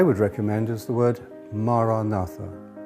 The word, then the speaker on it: Maranatha: If you choose that word, say it has four syllables. Ma, ra, na, tha.